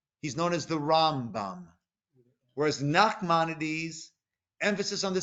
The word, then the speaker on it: Rambam: that the emphasis is put on the first syllable he's known as the rambam whereas nakhmanides emphasis on the second syllable he's